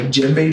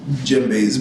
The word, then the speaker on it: djembe: I used to play the djembe drum for him sometimes. Oh, cool. The what? And djembe drum. Okay. How do you spell that? DJEMB. The D is silent, apparently.